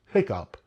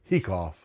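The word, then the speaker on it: hiccough: sense but some people say that word is pronounced hiccup which means that the o g sound is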